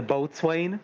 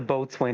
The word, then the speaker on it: boatswain: is the boatswain but we never meet the boatswain of the enterprise deutschland i'm not saying they need they had to write those scans out of what hey it's it's a mostly dark corner it's pronounced and boson is the first officer so riker is the